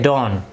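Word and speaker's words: don't: भी पढ़ सकते हैं, डोंट। ये टी जो है ये लिखा जरूर जाएगा, थोड़ा सा साइलेंट जाएगा, तो हम क्या बोलेंगे, यू डोंट have to, यू डोंट have time.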